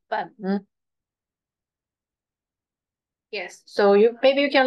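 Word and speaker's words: 粉: So this is will be called fen. Yes. So maybe you can like read after me. Fen. Yeah. Fen. Fun. Fen. Yeah, fun. That is rice noodle. It's similar pronounced like fong, right?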